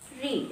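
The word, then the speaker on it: read: For example, subject ले लेते हैं आई, हैड ले लेते हैं आई हैड रीड। इसको हम क्या पढ़ेंगे? रेड, क्योंकि रीड की तीनों फॉर्म्स की स्पेलिंग से होती है बस रेड।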